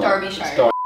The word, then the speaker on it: Derbyshire: How do you say your last name? Derbyshire. Derby? Okay. No, it's Derbyshire. Thank you. It's not. Derbyshire.